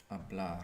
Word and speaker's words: hablar: Hablar.